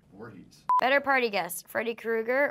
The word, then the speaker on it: Voorhees: But how do you pronounce his last name? Voorhees.